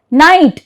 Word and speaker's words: night: So, G is silent when G-H is usually after the vowel sound.